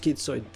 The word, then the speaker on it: Schizoid: It's a K, it's pronounced like a K, just have the goddamn letter K in it.